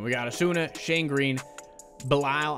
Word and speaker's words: Belisle: We got Asuna, Shane Green, Belisle, I believe is how you say it, according to the comments section, Tony Cingrani, Bruce Rondon, Scott Oberg, and Sam Dyson.